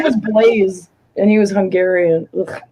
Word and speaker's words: Blaise: His name was Blaze, and he was Hungarian. Ugh, God. Did he spell it like B-L-A-I-S? Blaise. Oh yeah, E. Okay. Oh, so it was blase, but he said it was Blaze.